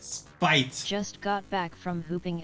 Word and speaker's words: SP8: And uh the name SP8, by the way, is pronounced Spite.